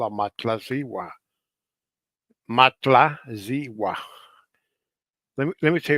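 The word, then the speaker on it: Matlazihua: they call a matlwa matla zwa let me let me tell you let me spell it m a t l a z i h u a it spells like that Legend has it that she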